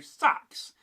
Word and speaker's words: seax: You'd likely still to hear something very close to sax. A sound that echoes deep into its past.